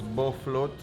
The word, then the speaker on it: Bofrot: together okay so guys we finally figured out the pronunciation so it's both float because i guess it because it floats on the oil yeah it's the moment